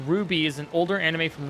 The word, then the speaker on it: RWBY: RWBY, pronounced Ruby, is an older anime